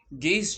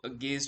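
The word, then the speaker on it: gauge: this is how uh gaze chart would look like some few people also pronounce it as gauze chart so I I'll be pronouncing it as gaze chart not as Gau chart so what it does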